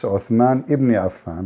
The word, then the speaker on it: Uthman ibn Affan: Cairo She said the name wrong. It's Uthman ibn Affan, but it's okay.